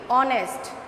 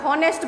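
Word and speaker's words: honest: আমরা উচ্চারণ করছি কি অনেস্ট। C here H is silent, এইচের sound কিন্তু আমরা পাচ্ছি না, আমরা কিসের সাউন্ড পাচ্ছি? ও, তাই না? আমরা হনেস্ট বলছি না, আমরা কি বলছি?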